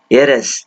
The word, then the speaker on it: heiress: ಇಲ್ಲಿ heiress ಅನ್ನೋದ್ರಲ್ಲಿ h silent. So how you have to pronounce is heiress, a sound, a sound ಬರುತ್ತೆ.